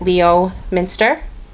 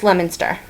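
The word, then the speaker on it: Leominster: the video and again looking at it you would probably pronounce it pronounce it Leo Minster that's lemonster and two more this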